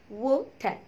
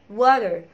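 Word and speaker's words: water: بتتنطقش طالما في الاخر، فهتقولها وات وات وات. تمام كده، دي بالبريتش اكسنت. انما بالامريكان اكسنت اسمها برضو التي هنا بين تو فاولز، فطبعا انت هتحط لا اما حرف الار لا اما حرف الدي، فانت حر برضو في نطقك ليهم، يعني انت الاثنين مخير فيهم عادي مفيش مشكله، المهم تنطقها صح. فلا اما هتقول عليها وير وير، لا اما واتر واتر.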